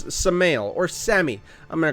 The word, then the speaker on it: Samael: I think you pronounce this SAMAEL when it's like this, like Maelstrom, right? Like Maelstrom. Think of, like, if you're for the World of Warcraft players, the Maelstrom, right? It was spelled M-A-E-L, so it's SAMAEL or Sammy.